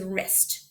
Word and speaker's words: wrists: the one sound okay the last way to spell it there might be a new way for you is WR okay you see this a lot at the beginning of words this word right here is wrists where we talked about